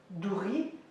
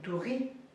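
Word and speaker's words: doria: Et douri. C'est pas douria, c'est douri. Douri. Parce que ça ne se prononce pas à la fin, et tout coup, le O.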